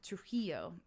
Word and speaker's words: Trujillo: for his known for his anti-true hilo stance trujillo i keep doing the wrong embassies on the wrong syllable yeah and and uh so he for